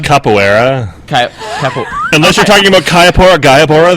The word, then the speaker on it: capoeira: I would like Kayapora. I think it's pronounced capoeira.